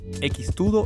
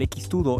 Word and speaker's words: X-tudo: X-tudo es brasileño, y la X en el nombre se pronuncia cheese. Viene de la aproximación portuguesa de la palabra inglesa cheese.